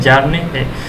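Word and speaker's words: Bjarne: C plus plus जो language था, बी यहाँ पे साइलेंट है, जारने एस्ट्रोस्ट्रप हैं, ये सी प्लस प्लस हैं।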